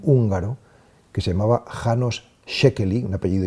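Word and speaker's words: Székely: caso por un húngaro que se llamaba hanos shekel un apellido impronunciable es s Z e k e l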